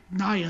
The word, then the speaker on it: Nia: But it should be Nia Jax. Right. Under anything that I know in regards to phonetically being spelled, I don't have a history of IA being Naya. Maybe, or was it Nia? It was Naya. That's what you say, right?